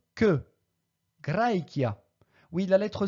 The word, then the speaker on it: Graecia: Litera che, pronunciatur que. Graecia.